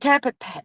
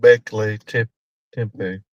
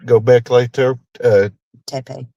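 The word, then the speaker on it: Göbekli Tepe: Is it Tapa? How do you say that? Tapa? Oh gosh, the one. Gobekli Tepe.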